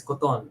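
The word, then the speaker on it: kuton: oh coton yeah it's coton which is it's like well it's like cotton but you have to say it like Fast coton uh but there's lots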